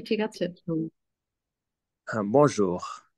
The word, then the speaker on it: bonjour: হ্যাঁ, বঁজোর, ঠিক আছে, বনজোর, এনটা নাকে চলে যাবে আর কি, বং, হ্যাঁ, বঁজোর এরকম আর কি।